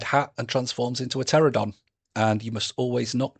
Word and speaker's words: Pterodon: and transforms into a pterodon. And you must always knock before going into the toilet when he's about because he has a silent P. Silent P. Pterodon, spelled with a P.